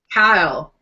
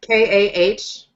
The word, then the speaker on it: Cahill: Kyle, like Kahill, Kyle. Oh. And yeah, there's no H, there's no hey in there, like us Americans want to pronounce it.